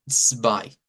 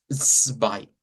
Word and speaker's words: zwei: El número 2 en idioma Deutsch se escribe con Z y se pronuncia como zwei, zwei. Entonces ese sonido es una TS, es un africado.